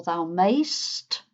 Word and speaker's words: mayst: "May": "Thou mayest" or "Thou mayst" if you want just one syllable instead of two.